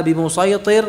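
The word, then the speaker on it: بمصيطر: Dan yang keempat, ini masih murajaah saja ya, kata bimusaytir yang ada di dalam surat Al-Ghashiyah. Surat apa? Al-Ghashiyah ayat 22, lasta alaihim bimusaytir, ya, kalau itu hanya dibaca dengan shad saja.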